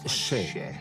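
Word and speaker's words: še: Le mot orge en sumérien se prononce « shay ».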